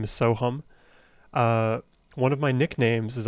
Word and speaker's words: Sohum: But my parents were, I think, savvy enough to realize that most Americans, most people in the West would understandably pronounce my name Soham, even though the true pronunciation is Sohum.